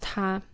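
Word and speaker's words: 他: how Chinese is engendered the third person pronoun in Chinese is pronounced ta and although we do have like uh written differences um it doesn't sound different whether it's like masculine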